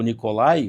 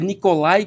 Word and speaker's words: Nicolaj: O J, ele tem um som de I, pronuncia como I.